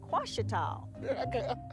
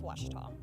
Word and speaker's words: Ouachita: Some folks think the O is a Q, and they say Quashita. Hey, Ouachita. Ouachita. Back in Texas, everybody pronounces it Wichita, but really, it's Washita.